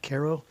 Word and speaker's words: Cairo: of Cairo it's spelled like Cairo but they pronounce it Cairo and then I'll go about three miles beyond